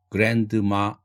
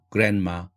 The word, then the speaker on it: grandma: 이 페이지에서 설명하고 싶은 단어는 첫 번째 줄 landlord, grandma, 할머니 할 때 grandma 이렇게 발음하지 않고 grandma, grandmother.